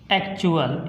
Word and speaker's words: actual: जब टी के बाद UAL आए तो हम उस समय उच्चारण उसका च से करते हैं। कैसे, देखिए एग्जाम्पल के द्वारा। एक्चुअल ACTUAL, इसमें आया एक्चुअल, तो हमने कहा जब